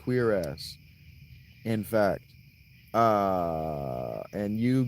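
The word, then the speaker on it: cuirass: It is pronounced queer ass in fact.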